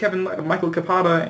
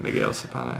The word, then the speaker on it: Miguel Zapata: Shout out to Ryan Valentino and Mike Zeiss, Michael Capata, and Kevin Powers. I'm sorry, I pronounced your name really wrong. Miguel Zapata.